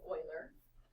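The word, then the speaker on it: Euler: So, this is in um in honor of Oiler, which we don't really get in. So, Oiler. What's that? Oiler, not any oiler. That's how you say it.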